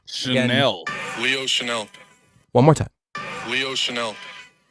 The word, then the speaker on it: Chenal: I know we've all been on our struggles, and I know that it's not spelled like the fancy brand. But I asked Leo, and he said... Chenal. Chenal.